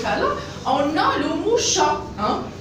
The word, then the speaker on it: chat: Par exemple, regardez dans ce cas-là, On a le mot chat. Hein? Regardez la lettre T, on ne le prononce pas.